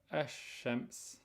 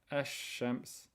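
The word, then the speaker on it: الشمس: on the lam and with regards to sun letters you do not pronounce the sukun on the lam and instead you add the shadda to the letter which comes afterwards and here are the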